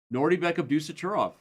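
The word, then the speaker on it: Nodirbek Abdusattorov: What name did I mispronounce? Nordy Beck Abdusurov.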